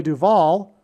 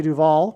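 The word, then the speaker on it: Duvall: But Simon famously broke up with Shelley Duval, which also rhymes with Hall, at the airport before she got onto a plane to the UK to film the movie The Shining.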